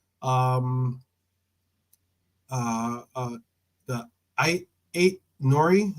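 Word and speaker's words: Aït-Nouri: um uh uh the I8 Nori is that how you say his name yeah eight Nory nor eight Nory yeah so um yeah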